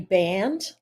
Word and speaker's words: Band: Well, my name's Band. I know sometimes my last name is in there, and people go, "How do you say that name?" But it's Band, like rubber band.